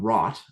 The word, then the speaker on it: wrought: animation program lines drawn called rot and not spelled rot but spelled with a w w r o you ght um like I said I was wrought with anguish you know that kind of